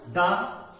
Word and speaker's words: the: उच्चारण हो रहा है तो इसमें हम इसको दा बोलते हैं। लेकिन अगर इन्हीं संज्ञा शब्दों में अगर विस्वर से चालू होते हैं वो शब्द तो उनको हम उस समय हम इसको दी उच्चारण करते हैं।